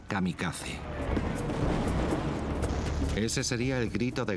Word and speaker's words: kamikaze: llamaron el viento divino que en japonés se pronuncia kamikaze ese sería el grito